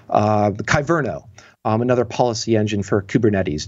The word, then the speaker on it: Kyverno: recently was talking about um kyvern i'm going to mispronounce it now kyverno another policy engine for